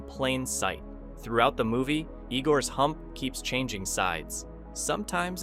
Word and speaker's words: Igor: His portrayal of Igor, or Igore as he insists, became one of the most beloved characters in comedy history.